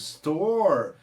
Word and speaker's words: store: consoante então faz a entendem é com vinis store com vini anos ator repare que o som